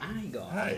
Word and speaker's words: Igor: Si pronuncia Igor.